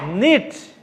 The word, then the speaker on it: knit: Knit. K is silent.